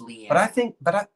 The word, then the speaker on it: Leanna: It's spelled like Diana, but it's pronounced Leanna.